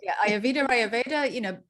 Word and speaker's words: Ayurveda: I was practicing. Ayurveda, both are okay.